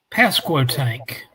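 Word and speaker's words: Pasquotank: Tell them how to pronounce that name. Pasco tank.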